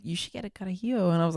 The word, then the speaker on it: Carajillo: Carajillo. Girl, is better than espresso martini. That's what everyone says. I was at a restaurant so in Mexico, and the waiter was like, "You should get a Carajillo," and I was like, "Dude, it's 11 a.m.